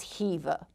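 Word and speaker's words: Khiva: visited which is Hiva I know it starts with the K but we were reminded regularly that the pronunciation is Hiva after spending a day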